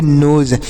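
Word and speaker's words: nose: की तरफ बढ़ते हैं एन ओ एस तो इसे क्या पढ़ेंगे यान से न पढ़ेंगे ओ से ओ की मात्रा का उच्चारण कर देंगे यस इ से ज पढ़ेंगे तो इसे पढ़ेंगे नोज इ का उच्चार नहीं होगा हमने ऊपर बताया यहां पर आपको बताया तो इसे पढ़ेंगे नोज नोज मतलब होता है नाक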